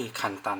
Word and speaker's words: 簡単: เป็น คันจิ นะ ครับ ก็ จะ ออก เสียง คล้าย ๆ กัน ก็ คือ คัน ตัน นะ ฮะ การ เขียน